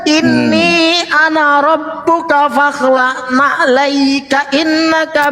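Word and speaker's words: إني: Nah, Bang Moto tuh bacanya inna. Pada saat Bang Moto baca inna, oh itu salah Bang Moto. Ini lo yang benar. Inni ana rabbuka fakhla'na alaika innaka bil wadil muqaddasi tuwa.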